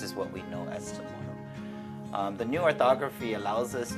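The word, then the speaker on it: CHamoru: ro to say to go into or to pronounce the word samoro go, so it's like chamorro.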